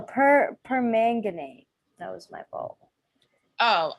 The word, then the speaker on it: permanganate: pronounce it potassium yeah pomegranate no permanganate that was my bowl